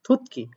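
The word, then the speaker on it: 듣기: আসলে ত বর্ণের পরে যদি গিউক থাকে তাহলে সেটা সাংগিউক হয়, সাংগিউকে ক হয়, থুতকি।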